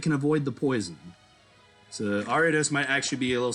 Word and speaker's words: Ariados: all right all right it's arya dose um there's the announcer mispronouncing the name again dragonite do not have anything that can avoid the poison so ariados might actually be a